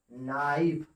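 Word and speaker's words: knife: ऐसे ही के एन आई एफ ई, इसको हम लोग क्या पढ़ेंगे, नाइफ।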